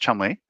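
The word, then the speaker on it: Cholmondeley: Pronounced Chumley and uh oh oh featherstone pronounced Fansaw.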